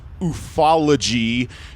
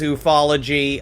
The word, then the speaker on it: ufology: Yes, technically it is ufology, except I do prefer ufology because it's funner to say, and it gets you like that.